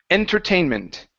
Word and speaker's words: entertainment: would be a okay in English it's n entertainment entertainment mhm there you go okay uh next up we have highlight so uh pronounce that H at the beginning but do